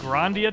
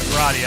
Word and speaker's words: Grandia: Is this not Grandia 2? I've been calling it Gradia.